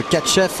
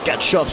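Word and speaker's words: Tkatchev: Oui, le catch-F, vous disiez, Michel, le catch-F ou le catch-off selon que l'on prononce à la russe ou pas, qui donc vient de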